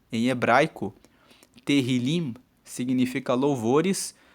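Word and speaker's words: Tehilim: Tanto que o livro dos Salmos em hebreu se chama Terrilim. Se escreve T E H I L I M hebraico. Terrilim significa louvores.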